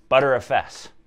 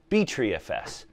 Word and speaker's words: Btrfs: the last one that there's like eight different ways to pronounce this acronym butter fs btrfs btreefs anyway that's the end